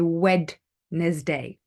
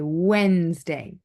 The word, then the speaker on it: Wednesday: okay Monday Tuesday Wednesday we don't say Wednesday we say Wednesday okay the next one